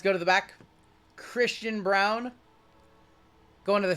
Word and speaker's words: Braun: It's weird that Braun is pronounced Brown. It's a little weird, but that's how it's pronounced.